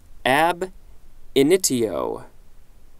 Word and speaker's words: ab initio: ability next entry looks like it's two words ab initio so that pronounced correctly ab initio initio initio ab initio